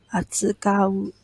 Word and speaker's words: 扱う: この機械を This is pronounced as 扱う Okay, 扱う means to handle or to use.